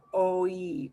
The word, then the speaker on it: hoy: Similarly, the H in the next word, we will not pronounce. It's the word for today. And it will be an O and an E sound together. Oi, oi, oi, Oi.